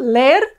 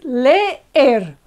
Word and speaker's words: leer: It's not leer, it's leer, okay? Two strong vowels, and they are each in a syllable of their own.